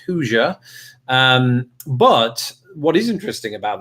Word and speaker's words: Hoosier: of the fact that I drop the R at the end, but I go with Hoosier.